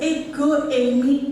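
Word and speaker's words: ἐγώ εἰμι: Bacanya itu ego eimi ehodos kai dan seterusnya ya.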